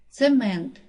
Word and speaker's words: цемент: падає на перший склад цемент наголос падає на другий склад разом наголос падає на